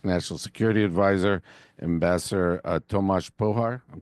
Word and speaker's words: Pojar: Very honored today to have with us here in our office the Czech National Security Advisor, Ambassador Tomas Pojar. I'm pronouncing that right, Tomas? Pojar, but Oh, Pojar is Pojar.